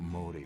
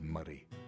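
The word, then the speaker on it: Moray: But in 1298, Wallace, along with Andrew de Murray, it's not Murray by the way, it's Murray. It's spelt Murray, but you don't say Murray, you say Murray, alright?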